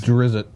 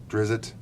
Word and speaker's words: Drizzt: I've seen people that have dressed up like Drizzt from the Forgotten Realms and Elminster and different It's pronounced iconics. Drizzt. Drizzt.